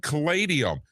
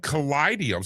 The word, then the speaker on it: Callidium: Leanne, I have now for a couple years said caladium, but you said callidium. So is it an I there in that second syllable? Yes, it's an I.